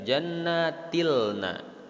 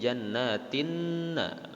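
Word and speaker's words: جنات النعيم: Dibacanya tidak jannatilna, tapi jannatinna, langsung ke huruf syamsiyahnya. Alif lamnya tidak terbaca.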